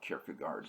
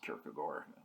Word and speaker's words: Kierkegaard: Soren Kierkegaard, who, yes, it's spelled like Kierkegaard, but it's pronounced Kierkegaard.